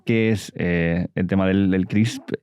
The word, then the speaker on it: CRISPR: CRISPR, sí, CRISPR. CRISPR. Es que se pronuncia, se escribe sin la E al final, ¿no?